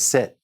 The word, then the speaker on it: sept: And the number 7 is sept.